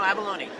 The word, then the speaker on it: Avallone: No, Avallone. You got it right the first It was Avallone? That is the Italian pronunciation.